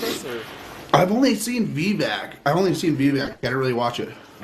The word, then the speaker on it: Vivek: If you want to talk, it's Vivek. Is how you pronounce Yeah, that well, name.